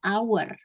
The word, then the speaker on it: hour: mirip kayak gini ya tulisannya kan hour tulisannya hour tapi hanya nggak dibaca Jadi dibacanya itu our our sama kayak kami ya